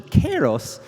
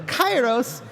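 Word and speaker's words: Kairos: today and this new battle content is called kyo's gate so I'd like to step in just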